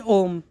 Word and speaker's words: Om: So the first syllabus is a or akara. Second syllabus is u or ukara, and third syllabus is ma or makara.